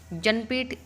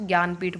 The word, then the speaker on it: ज्ञानपीठ: जनपीठ नहीं बोल सकते आप, इसको ज्ञानपीठ बोलना है। जनपीठ ये जन जय और नय को हिंदी में जैसे गे बोलते हैं ना, इसलिए JN इसकी स्पेलिंग में है।